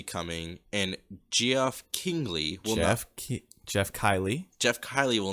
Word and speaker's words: Geoff: Dude, okay, I just want to say, you pronounced Geoff, Geoff. It's always been Jeff, bro.